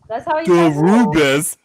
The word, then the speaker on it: Derubis: That's how he says it. That's how you says it. Derubis.